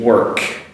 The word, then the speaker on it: work: The walk with the L, which is silent L, and the work with an R that is slightly pronounced.